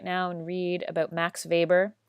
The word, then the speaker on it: Max Weber: now and read about Max Weber starts with the W but it's pronounced like a V so Max Weber is the theorist who